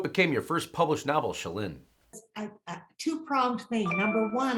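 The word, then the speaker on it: Chelynne: Well, it's pronounced Shalyn, and it's a completely made up name.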